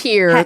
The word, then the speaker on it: Pierre: Pierre, South Dakota. It's Pier. They pronounce it Pier.